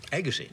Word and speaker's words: Agassi: I heard guys say Andre Agassi, Andre Agassi, Agassi. I assume it's Andre Agassi, right? Agassi. Agassi.